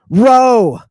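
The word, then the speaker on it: ρ: me the next one row and you say wait a minute I thought that one was a p it was a p this is a row but that's an English P that's because Anglo Saxons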